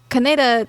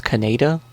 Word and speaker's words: Kaneda: Well, in English, for the longest time, people would pronounce it how it looks, Kaneda. Yes, and the Japanese pronunciation is supposed to be Kaneda.